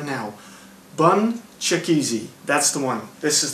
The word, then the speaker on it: BunChakeze: I said it wrong very easily, so let's break it down into little bits and see if you can remember it. It's BunChakeze. BunChakeze.